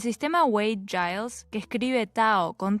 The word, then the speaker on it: Tao: también todavía se usa Tao Y taoísmo de cualquier forma con t o con d se pronuncia tao el taoísmo es una